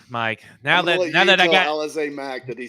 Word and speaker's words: Alizé: I think it's Alizé. At least that's how I'm pronouncing it, because that's you're pronouncing it out now. Elise, you're pronouncing it Alizé.